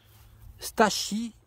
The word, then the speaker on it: Stachys: Stachys, pardon, parce qu'il faut prononcer le S en latin.